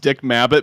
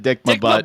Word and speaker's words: Dick Mabbott: So I think it's actually pronounced Dick Mabbott, but he definitely said Dick My Butt in the video.